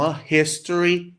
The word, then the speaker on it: history: exceções aqui ó Então olha lá a history porque o h ali não é Silent ele não é mudo tá então a history hahaha aí é o h tem som mesmo de consoante E no caso de